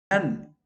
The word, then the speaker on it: none: None, just like nun, a nun in a church or working for a Christian organization.